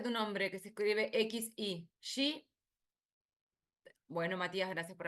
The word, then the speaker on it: Xi: Que se escribe X-I. ¿Sí? Bueno, Matías, gracias por avisar. ¿Cómo se pronuncia tu nombre? Xi, no sé cómo se es X, I.